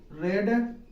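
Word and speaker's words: read: रही है तो तुमने यू हैव रेड गा य रीड स्पेलिंग में गा तीनों फम्स की एक होती है उच्चारण में सिर्फ अंतर होता है रीड है इसको रेड पढ़ते इसको भी रेड पढ़ते हैं तो यू हैव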